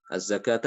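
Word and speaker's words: الزكاة: As-sholata. Tulisannya seperti as-sholawatu, as-sholawata. Az-zakata dengan wawu di situ dengan wawu, ya.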